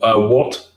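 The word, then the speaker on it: Wut: And it's called What, but it's spelled W-U-T.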